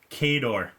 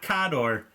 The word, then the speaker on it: Khador: Khador, not Khador, Khador. So if you're saying Khador, you're wrong. It's Khador, officially from Privateer Press, right there.